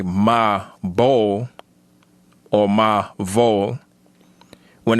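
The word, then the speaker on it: מבול: And that would be in Hebrew spelled Mem Ba Wa Lamed. And that would be pronounced as we, learning the Hebrew that we learn, Mabol. Mabol.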